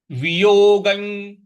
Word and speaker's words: वियोगं: अगला है वियोगं। वियोगं। देखिए, वियोग के ऊपर जो अनुस्वार है उसका य के साथ में उच्चारण करना है, क्योंकि आगे य लिखा हुआ है।